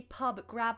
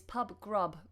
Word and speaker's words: grub: lovely thank you um shouldn't it be Pub grab with an ah no it's Pub grub grub is another word for food so let me write